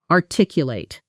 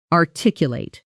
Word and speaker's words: articulate: Notice the stress pattern here. R tick you late. The stress falls on the second syllable.